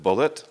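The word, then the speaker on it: Bulliet: by an American scholar of Islamic studies Richard bullit he spells his name B you ll IET and he pronounces it bullit and it's called the case for Islamic Christian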